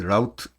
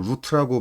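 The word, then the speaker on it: route: URL 패스 또는 패스라는 단어하고 그이 라우트 루트라고도 보통 경로라고 할 때는 루트라고 많이 있는 거 같아. 라우 라우터라고 이건 라우터라고 많이 읽는데 얘는 루트라고 많이 읽어요. 경로라는 뜻에. 루트라고 읽읍시다.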